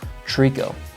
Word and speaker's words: tricot: talking about our tricot stitch, and it's actually pronounced tricot. So just so you all are aware, and you can learn from my mistake. So what we'll do for the tricot stitch is we're gonna have your pattern selector